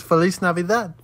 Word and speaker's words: Feliz Navidad: tsunami with how do you say the Spanish Feliz Navidad I only know the son I don't actually know how to say that it's Feliz Navidad okay I'll be there I'll be there by